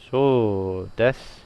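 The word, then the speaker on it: そうです: Now I'm pretty sure you're not really going to be pronouncing that U most of the time, because it's going to slow you down when you're talking. So des.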